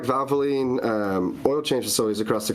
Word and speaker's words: Valvoline: Valvoline, yeah. Yeah, Valvoline. Yeah, Valve was messing me up there. I prefer to go that, I guess, muscle memory. If you have like Valvoline oil change facilities across the country that have